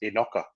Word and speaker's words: Enoka: So from what I learned, it's Enoka.